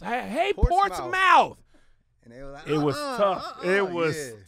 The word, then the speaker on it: Portsmouth: the way back prior to la you from portsmouth virginia i appreciate you knowing how to say